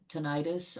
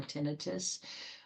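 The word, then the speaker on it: tinnitus: One of them being the auditory nerve which c which can be involved uh with ten tenonitis or tinitus um pronounced both ways.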